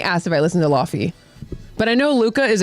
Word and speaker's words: Laufey: I think he asked if I listened to Laufey, but I know Luca is a huge fan of her, and he knows that it's knows the pronounced Lave.